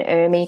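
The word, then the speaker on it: ERMI: a part of an army test and Amy is spelt er mi and an Amy test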